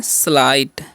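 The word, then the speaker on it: slight: हम क्या पढ़ते हैं स्लाइट देखिए यहां पर जीच जो है साइलेंट होता है तो इसको आपको ध्यान रखना है स्लाइट पढ़ते स्लाइट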